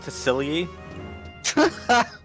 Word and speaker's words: Tassili: It's actually supposed to be pronounced Tassili.